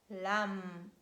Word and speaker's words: lamb: And letter B is silent when it stands at the end of words and it is preceded by letter M. So letter M stands before letter B. And we read comb, thumb, numb, limb, lamb, climb, and its derivative climber, plum, plumber.